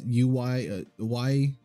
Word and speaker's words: Ui: It's UI, but it's pronounced Ui for some dumb reason.